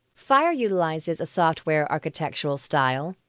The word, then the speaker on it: FHIR: fast healthcare interoperable resource is abbreviated fhir and is pronounced fire it combines the best